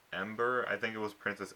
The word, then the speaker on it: Ember: always think of okay how to say her name is think of did the month December and then just take up the dis and just say Ember I need to work